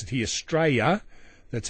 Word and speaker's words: Straya: counterparts opinion polls in australa or as we pronounce it here straya that's how you pronounce it by the way